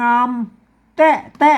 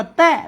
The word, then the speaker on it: แท้: นะ อ่า เห็น มั้ย อ่าน ว่า งาม แต้ ๆ เห็น มั้ย ไม่ ใช่ ๆ นะ ครับ ฮ่า ๆ ๆ งาม แท้ ๆ เป็น ภาษา ละ นาม ไม่ ต้อง อ่าน ว่า แตะ นะ ครับ อ่า นี่